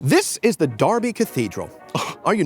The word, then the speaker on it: Derby: I doing in the city of Darby anyway annoyingly not pronounced Derby well Darby just won a very